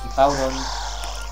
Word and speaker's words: Hippowdon: Como bien lo he dicho al principio, que tiene un Hippodown, un Hippowdon, es así como se pronuncia, que tiene chorra de edad.